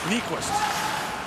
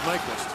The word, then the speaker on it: Nyquist: has always pointed out his real name is pronounced nikos but ever since he got to the nhl he's been called nyquist this is an